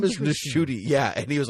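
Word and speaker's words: Ncuti: I believe it's pronounced Shuti Gatwa. It is Nishuti, and I know that because I watched an interview with him.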